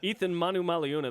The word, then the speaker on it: Eathyn Manumaleuna: Eathyn Manumaleuna, that's how you say his name, is on BYU Sports Nation. Did I say it correctly? Yeah.